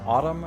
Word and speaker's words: autumn: dubitable, sign versus signature, autumn versus autumnal. The first word in each of these pairs has a seemingly useless silent letter, but when you say the derived word, that silent letter is pronounced.